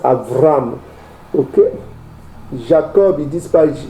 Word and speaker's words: Avram: Eux ils disent pas Abraham, ils disent Avram.